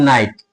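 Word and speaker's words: knight: Silent है। जैसे एक शब्द आ जाए जैसे कि मान लीजिए नाइट के एन आई जी एच टी के एन ओ सी के ये क्या पढ़ते हैं इसको?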